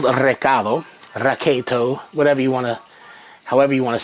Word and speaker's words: recado: So I'm going to use something called raketo, however you want to say it. It's pronounced that way, but it's spelt recado, but it's pronounced recado.